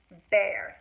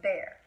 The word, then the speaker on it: bear: are the end of it looks like ear it sounds like air you breathe it looks like ear that's attached to your head and it's bear not ear beer here